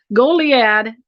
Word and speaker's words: Goliad: Goliad, Texas, which is a very historic, very unique town.